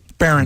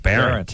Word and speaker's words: Behrendt: No, Behrendt. Yeah. Behrendt. See? Behrendt. See, I'm just going to cross out how it's spelled. I know. I should have changed it, man. B-A-R-E-N-T. Yeah, that's what I'm going to do.